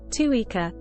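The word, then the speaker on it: Țuică: Tuica, pronounced tu-e-e-ca, is a traditional Romanian alcoholic beverage made through the distillation of fermented fruit, most commonly plums.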